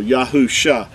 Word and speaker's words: Yahusha: would say it hush the only difference between here and this this name here and this here is the letter yad right there at the beginning it makes the yah sound so yahusha that was joshua's original